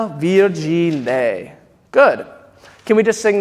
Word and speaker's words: virgine: So yeah, so virgine. It's a very bright E, virgine.